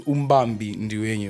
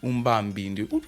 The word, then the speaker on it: Umbambi Ndiwenyu: my name is Umbambi Ndiwenyu, right? That's how it's pronounced. Umbambi Ndiwenyu.